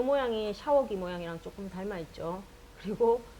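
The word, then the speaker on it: ཤ: 자, 그 다음에 이 샤자는 길고 약하게 발음을 해줘야 되는 샤자죠. 같이 발음해 볼까요? 샤.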